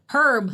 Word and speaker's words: Herb: good stories we covered his first name rhymes with a curb herb herb B Meister we